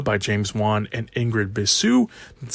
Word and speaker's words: Bisou: The movie is based on an original idea by James Wan and Ingrid Bisou, that's how you pronounce that last name, who came up with Malignant.